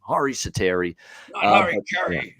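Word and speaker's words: Hari Säteri: soteri uh in play apparently that's how he pronounced it as the hari satiri the other way harry ceteris just makes me laugh every time but apparently he's actually harry that's that's his first name hari satteri yeah he carries a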